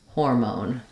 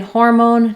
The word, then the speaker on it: hormone: video for that but in hormone just make sure that you're not letting it become an R sound you don't want